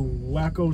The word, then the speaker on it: Waco: Welcome to Waco, Texas. That's the right way to pronounce it. Anybody who says Waco? Waco. Anybody who says Waco isn't from here. That's how the locals pronounce it.